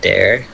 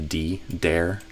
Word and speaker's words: there: So again, the th kind of became a dare. So it sounds like the word dare the way you said it, like I dare you, double dog dare you. But I would say dare with a voice thre there.